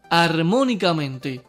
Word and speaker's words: armónicamente: Armónicamente. La sílaba tónica es mo y lleva tilde porque está antes de la antepenúltima.